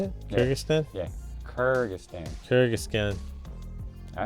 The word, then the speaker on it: Kyrgyzstan: Kyrgyzstan. Is that how you say it? Yeah. Kyrgyzstan?